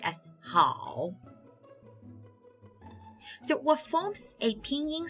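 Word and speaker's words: 好: The first character is pronounced as ni, and the second character pronounced as hao.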